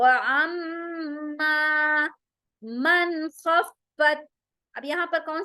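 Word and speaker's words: خَفَّتْ: वो अम्मा मन खफ्फत, खफ्फत, खफ्फत, खा में स्क्रैचिंग साउंड मोटा होगा। फत, फा के ऊपर शद आ रहा है, तो उसको हम सख्ती के साथ डबल टाइम प्रोनाउंस करेंगे।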